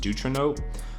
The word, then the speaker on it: Deuteranope: this to this one, I think it's pronounced Deuteranope, and you turn it up